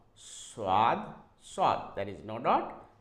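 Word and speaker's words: ص: coming to this one this one is s swad SW there is no Dot and when there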